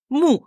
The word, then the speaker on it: 木: Aujourd'hui, c'est le bois, et le bois, ça se dit Mu. mou. M-U. Mu. Quel ton? 4e ton. Ouais. On s'énerve. Mu. comme en français, mu, M-O-U. Mu.